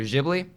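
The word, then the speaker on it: Ghibli: it's actually debatable because people still don't know how to pronounce it uh but it's either jibli or gibli so okay okay up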